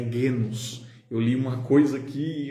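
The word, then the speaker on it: γένος: eu usei a palavra legos, foi uma falha minha. Na verdade não é legos, é genos.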